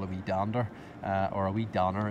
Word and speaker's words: dander: usually called a we dander or are we done or is more often the d is usually dropped in oscar scott's they don't they just pronounce the ends so it's a wee downer along the path and